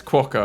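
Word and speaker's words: quokka: normally am but yeah it's not quo it's quaca apparently so thank you to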